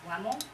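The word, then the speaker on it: Lämmel: So my name is spelled in German as L-A umlaut, M-M-E-L, which is the weird letter you saw earlier, an A with 2 dots over it. And it's pronounced Lemel, which is like when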